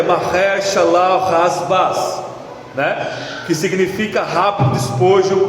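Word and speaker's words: Maher-shalal-hash-baz: e escreve nela em caracteres legíveis aí a pronúncia hebraic é marer shal rasas né que significa rápido despojo presa segura verso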